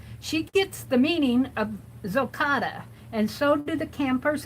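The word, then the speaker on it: gokotta: It's pronounced, it's a noun, and it's pronounced as Zocotta. G-O-K-O-T-T-A.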